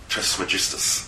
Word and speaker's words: Trismegistus: That's pronounced Trismegistus. Trismegistus, thank you.